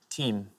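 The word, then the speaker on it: Thiem: the French Open Dominic team and his surname interestingly is spelled t h i e m so next time someone tells you there's no I in team there we are thank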